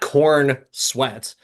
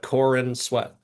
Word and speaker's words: Corenswet: Not corn sweat, but Corin sweat.